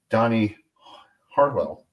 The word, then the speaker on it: Donny Harrel: Donny Harrel.